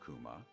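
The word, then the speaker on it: 熊: one piece is from in Japanese the pronunciation of Kuma and Kuma from Kumamoto is exactly the same it's almost as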